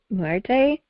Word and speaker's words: Muerte: And the name of the album is Muerte? How do you pronounce it? Muerte, yeah.